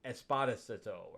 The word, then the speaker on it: Esposito: It's Esposito, I think it said. I think the accent's in a different spot.